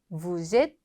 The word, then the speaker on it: vous êtes: 자, 동사가 모음으로 시작할 때 이 앞쪽에 있는 주어 부분에 끝에 있는 자음이 발음되지 않은 경우 연결해서 이 s를 뒤에 vous êtes 하고 연음해서 발음해 줍니다.